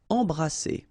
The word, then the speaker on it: embrasser: Embrasser. Alright, and then double S here, it's S. Embrasser. Oser.